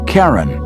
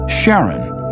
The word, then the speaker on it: Charon: christie suggested the name karen after the ferryman of Pluto's underworld in greek mythology but preferred to pronounce it sharon more like his wife's name charlene from the motions of pluto and charon astronomers could work out